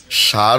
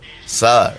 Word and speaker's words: স্যার: না মানে সার নয় তো, স্যার।